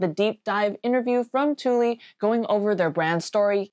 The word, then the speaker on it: Thule: So, so the brand, we are Tuli. We often get thu, which makes sense as far as pronouncing the brand, but we're a Swedish brand.